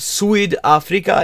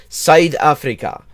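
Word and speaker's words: Suid-Afrika: sweet Africa yeah like his pronunciation is wrong it's not the he's pronouncing it like English but you I in Africans is like it's not SW Africa it's sou Africa it's sort of this halfway point between a and I sa Africa so yeah no the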